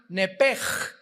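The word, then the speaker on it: נפש: el alma en el hebreo es nepesh, se pronuncia nepej, la CH en hebreo se pronuncia como J, nepesh, murió.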